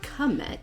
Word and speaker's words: Kamek: similar okay so anyway my american english brain would say if it was spelled like ch it would be kim if it's spelled k a which it is it would be like comec comec but that's very english yeah or is the